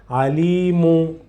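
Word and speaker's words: عليم: Pronounce the letter where you find the Dhamma with Dhamma. So, Alimu, the letter itself with Dhamma. And after pronounce meme.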